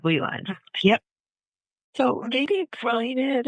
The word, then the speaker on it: Ley Lines: came up with it and what, am I pronouncing it right? Ley Lines of Love? Yeah. Or am I pronouncing it wrong? Ley Lines.